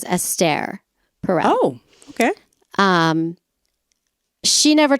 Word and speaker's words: Esther Perel: estare Pell she it's it's spelled Esther but everyone calls her aare she's Jewish and that's the Hebrew way of saying the word Esther so she is known as estere pel oh okay um she